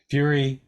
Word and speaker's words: Fury: Well, Fury, not furry.